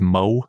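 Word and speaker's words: Möwe: It's called I think it's Mowe is how it's pronounced, M-O-W-E with an umlaut over the O.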